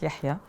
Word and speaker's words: Yahya: So the brand name already, so I had my account on Instagram, it was called Yaya, because all my friends and European friends, they couldn't pronounce Yahya.